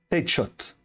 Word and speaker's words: Headshot: La prononciation de mon pseudo, c'est Headshot.